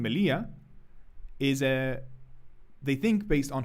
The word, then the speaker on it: Melilla: The reason that this is called militia, or how they say it in Spain, Melilla, is they think based on honey.